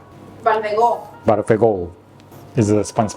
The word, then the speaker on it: Balfegó: The company called Balfegó. Balfegó. Balfegó is the Spanish pronunciation?